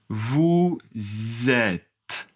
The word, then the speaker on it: vous êtes: Allez, vous vous êtes vous êtes Alors, ici, le S n'est pas prononcé mais vous êtes Il y a une liaison.